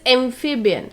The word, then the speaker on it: amphibian: The very first one is amphibian. So we need to stress on the initial syllable, that is amphib. Okay, amphibian. So what are these animals?